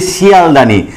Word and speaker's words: শিয়ালদাহ: কিন্তু আর মিলল না, হকারটা কিন্তু আর আমরা উচ্চারণ করলাম না।